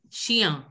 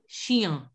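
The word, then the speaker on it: chien: And Shia. I, you know, like she, Shia. Shia. Sure. I see CH is pronounced as sh and IEN is pronounced as Ia.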